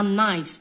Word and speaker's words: knife: هنا عندنا knife السكين هاودا ما نقولوش كنايف نقولو نايف.